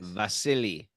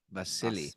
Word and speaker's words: Wassily: you pronounced the V you pronounce the W as a v i guess vasili vasili vasili vas thank you Martin